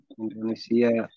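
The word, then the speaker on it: إندونيسيا: Afwan Ustaz, yang di huruf ya di Indonesia di tasdid. Indonesia di tasdid. Malah keliru. Iya, Indonesia. Nggak usah di tasdid Indonesia ya. Indonesia biasa nggak usah di tasdid. Ya, ya-nya itu bukan ya nisbah.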